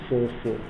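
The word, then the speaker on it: 4/4: again you see that it's pronounced as 4 4 and not 4 over 4 now this is 2-2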